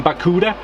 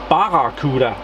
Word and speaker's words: Barracuda: I messed up the I tend to call them baku des and they are called Baba khuda mm yeah probably a